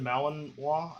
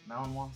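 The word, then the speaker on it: Malinois: had a uh Belgian Malinwa, I think is how you say it. Malininoa.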